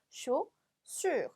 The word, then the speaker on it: chaussure: 그리고 발음은 여기까지 끊어서 chaussure 이렇게 읽어주시면 발음이 되겠죠. 아위 붙으면 오, 얘는 을 발음이니까 우리 어려워하는 그 발음, 입은 우, 소리는 이 기억하시면서 소리 내시면 되겠죠.